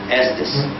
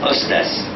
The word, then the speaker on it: Estes: No, my name in Arabic is Ustaz. Yeah, Ustaz. It was changed 600 years ago when my grandfathers left Spain. They pronounced it Ustaz. But then over the years, when they became Christians, they began pronouncing it as Estaz, and then it became Estes, and this is still too loud for broadcasting.